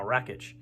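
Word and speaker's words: Rakić: that that last video i got it now rakitch wreckage versus tiago santos um this is when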